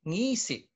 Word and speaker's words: ngisi: So again, the grave is always going to be put on top of a vowel because it denotes a glottal stop. But it retains the second to the last syllable accent.